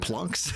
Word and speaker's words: phalanx: It's pronounced plunks. Plunks. That's good. That's a good one. Plunks. I don't know why. That just cracks me up. Slight difference. I see. Halunks. I used to pronounce it phalanx, but then I heard